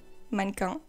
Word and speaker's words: mannequin: to mention monica so i'm gonna say minecon i think in english you say manikins i'm not even sure but monika is a french word okay so i'm going to pronounce it the right way manko they are japanese duo